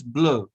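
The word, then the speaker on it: bleu: rouge means red then blur pronunciation is blur say blue blue blue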